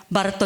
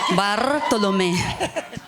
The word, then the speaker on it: Barto: I will proudly pronounce it as Barto. You roll the R. Barto.